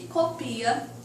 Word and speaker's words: copia: Aqui são as homógrafas, que na escrita serão idênticas, mas a pronúncia e o significado também automaticamente serão diferentes. Cópia, que é o substantivo, e copia, que é o verbo, ok?